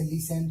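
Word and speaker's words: listen: टी के बाद EN हो तो टी हमेशा साइलेंट रहता है, जैसे लिसन, सुनना, ओफेन, अक्सर वगैरह।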